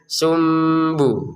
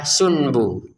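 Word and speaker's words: سنبلة: Kita bacanya sumbu. Jangan dibaca sunbu ya. Tulisannya memang sunbu, tapi di dalam tajwid kalau nun bertemu ba dibacanya sum. Nunnya dibaca mim ya. Sum disertai dengungan sum lalu ke ba.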